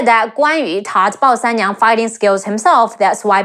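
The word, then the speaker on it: 鲍三娘: And another incredible female warrior, Bao Sanniang, Bao, Bao, Si An San. Remember the rule? Si An San, Ne Yi Ang, Niang, Bao Sanniang. Bao Sanniang, she's a possibly fictional character who married to Guan Suo.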